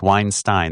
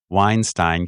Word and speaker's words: Weinstein: It's Weinstein. This is how you know. Okay. I know that EIEI. Harvey Weinstein, because Harvey Weinstein is mean. Okay. Brett Weinstein, because Weinstein is fine.